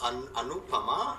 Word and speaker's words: Anupama: It was Anupama. Yeah, you said it right.